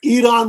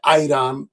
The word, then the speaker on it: ইরান: এবং আপনি নিউজ রিডারদের দেখবেন তারা ইরান উচ্চারণ করতে পারে না, ইরানকে বলে আইরান, ইরাককে বলে আইরাক।